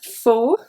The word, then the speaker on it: faut: Mais il faut savoir s'en occuper. Mais, the S is silent. Il faut, the T is silent as well.